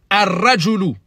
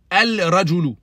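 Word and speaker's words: الرجل: Qu'est-ce qu'on dit? Ar-rajulu. Ar-rajulu. Et non pas al-rajulu. Ar-rajulu. Le lam, il est écrit, mais ne se prononce pas.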